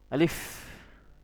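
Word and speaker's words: ألف: কি আলিফ ঠিক আছে এটা হচ্ছে আলিফ আপনার এই শব্দটা কি করতে হবে স্পষ্ট করতে হবে এবং আপনি যখন উচ্চারণ করবেন তখন আপনার এটা তাড়াতাড়ি পড়তে হবে। আলিফ আলিফ যখন আলিফ বলবেন তখন আপনার ঠোটের ফাক দিয়ে কি হবে? বাতাস বের হবে।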